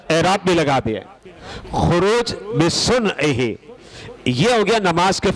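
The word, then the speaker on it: خروج بصنعہ: کوئی پڑھ لیتا ہے خروج سنعہ، خروج بسنعہ، ایسے پڑھ لیتے ہیں، لیکن جو صحیح طریقہ ہے تلفظ کا، کیونکہ یہ عربی کے الفاظ ہیں، عربی کے کلمات ہیں،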